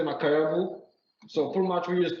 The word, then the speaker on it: Makayabu: Can you tell us the correct pronunciation for the name of this dish? What do you call it? It's Makayabu?